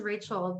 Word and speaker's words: Rachelle: gets a little interesting my name is rachel but it's spelled r-a-c-h-e-l-l-e and it's at serenity